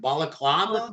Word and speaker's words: balaclava: Am I pronouncing it right? Balaclava?